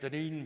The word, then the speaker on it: Dunedin: So that's how you say it, Dunedin, Florida.